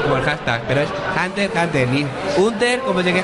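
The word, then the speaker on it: Hunter × Hunter: Una fe de rata, Jenny, que ninguno pronunciáis bien la serie, ¿eh? Hunter x Hunter. La X es, digamos, anecdótica. Te dejas el apellido, Hunter x Hunter es Dios.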